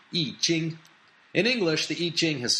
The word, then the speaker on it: I Ching: with the E Jing the character e is written as the letter i in the old way Gil romanization system and the Jing is spelled CH i n g in the modern pinin system it's written y i j i n g eing in English the iching